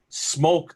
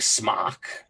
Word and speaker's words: Smok: I'm like, I pronounce your company as Smoke. Am I saying it correctly? He's like, yes. There you go. I actually contacted him because I was getting a lot of comments, and they said that it doesn't matter to them which way you say it. Yeah. It doesn't matter, but the proper is Smoke.